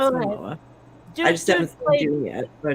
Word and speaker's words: Momoa: Maybe that's not how it's pronounced. I've never heard it said. No, it is. Yeah, it's Okay. Momoa.